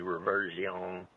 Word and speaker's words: Reversione: So the name of the book is actually Reversione. It's reversion, actually, in Latin. So it's Reversione, and each of the subtitles, Reset the Future, and the other one is Lost in Time.